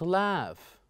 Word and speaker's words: laugh: You see, sometime when we have GH at the end, they are most likely to be pronounced as F.